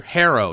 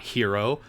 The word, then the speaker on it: Herro: It's Tyler Herro, not Hero. Hero has 1 R.